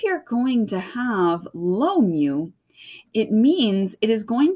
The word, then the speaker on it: mu: little you guy is called mu okay it's pronounced mu so which cat falls off the roof first